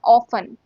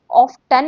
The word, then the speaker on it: often: इसमें T silent है। आप बोले ऑफन ऑफटन नहीं है।